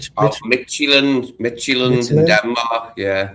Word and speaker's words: Midtjylland: It does not look like it says Midtjylland, does it? Like you'd say you'd say something different, but Midtjylland is apparently how you pronounce it, yeah.